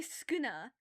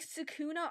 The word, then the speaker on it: Sukuna: You literally just ignore the first U and say Skina. It is not that hard. Doesn't have an R in it. Nothing. You just forget the first U.